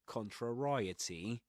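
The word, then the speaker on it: contrariety: My pronunciation was right. Contray. It's similar to variety if you think about it, isn't it?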